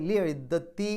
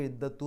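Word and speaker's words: لعدت: സാധാരണ കസർ കൊണ്ടോ ഉണ്ടാകും അതുകൊണ്ട് ലി ഇദ്ദത്തി എന്നാ പറയുക ലിദ്ദത്തു എന്ന് പറയില്ല ഇനി ഹുന്ന ഹിന്ന ഇതിൽ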